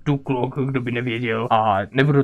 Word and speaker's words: Duklock: Ano, bavíme se o pánu Duklokovi, pozor, vyslovuje se to Duklok, kdo by nevěděl.